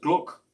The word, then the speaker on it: glögg: recipe for something called glögg." He said, "Oh, this pronounced gluck," and that is a mulled wine.